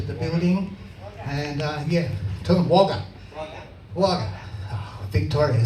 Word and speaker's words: Wagga Wagga: And tell them Wagga. Wagga. Oh, Victoria sounds so much better than Wagga. It's actually pronounced Wagga Wagga.